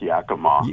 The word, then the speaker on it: Yakima: It's Yakima.